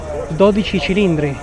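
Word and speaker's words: 12Cilindri: The new 12 cilindri which is the only way to pronounce it, guys.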